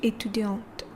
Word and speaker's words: étudiante: Je suis étudiant and je suis étudiante. Can you hear the difference? Je suis étudiant, je suis étudiante. So the second pronunciation has a t at the end, right?